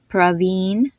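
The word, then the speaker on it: Praveen: in the name and it's pronounced the exact way you pronounce a double e in English like in the word freeze or tree it has a e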